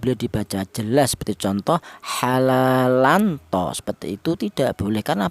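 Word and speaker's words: حلالا طيبا: Ini dibaca ikhfa. Apa artinya ikhfa? Ikhfa itu artinya samar, yaitu cara bacanya ini tanwin ini disamarkan ya. Jadi yang dibaca samar ada tanwinnya ini ya. Halalan tho seperti itu.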